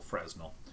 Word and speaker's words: Fresnel: Imagine Fresno, California, but instead of an O, it's an AL, Fresnel.